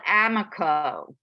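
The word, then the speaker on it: AMACO: The best clay company on earth is called Amico. It's spelled A-M-A-C-O.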